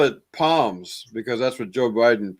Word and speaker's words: Psalms: Psalms but how do you know this is pronounced Psalms and not PS right there's well I I call it Palms because that's what Joe Biden President Joe Biden